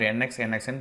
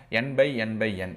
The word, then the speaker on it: NxNxN: x n cube or n x n x n puzzle okay it depends on the people's but the official pronunciation is n by n by n it is not x it is uh into